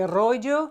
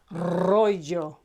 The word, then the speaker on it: rojo: papel paper roll Rojo it's written with one R but you have to know that in pronunciation it's a double r so you don't say Rojo you say Rojo okay any Spanish word